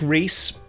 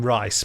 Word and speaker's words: Reese: And it's from Nick Reese. There's an outside chance that you'd pronounce his name Rice, but I'm thinking Reese.